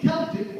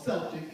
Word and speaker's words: Celtic: They were people of Celtic or Celtic, depending on how you want to pronounce that C, hard C or soft C.